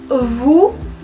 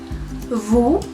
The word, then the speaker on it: vous: Vous, voyez, on prononce très bien la V. Vous, es lo mismo, no se pronuncia la S del final y la O y la U suenan como una U, nada más.